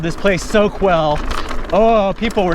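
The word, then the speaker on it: Soquel: the english language yes let's put a q u in that and pronounce it with a k sound it's probably spanish then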